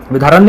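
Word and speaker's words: विद्यारण्य: विधारण्य, विधारण्य बोलिए, विधारण्य बोलिए, गुरु थे इनके, ठीक है, प्रोनाउंसिएशन के थोड़ा माफी चाहूंगा, ठीक है।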